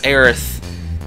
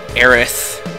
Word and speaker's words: Aerith: probably caused by like a difference of pronunciation between Japanese in English you know erith sort of sounds like Aris if you just say it fast enough erith you know it's sort